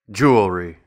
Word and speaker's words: jewelry: Jew. Ol. Re. Jewelry.